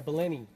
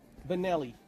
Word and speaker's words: Benelli: you are well no it's spelled a certain way and it's holy but it's Italian right so Benelli wow that's awesome it's